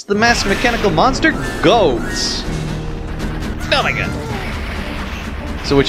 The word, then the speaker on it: Goht: bring it bring a goat I always pronounce it as go when I was a kid I'm like then I realized he's a goat so I'll just pronounce it as goat so what you want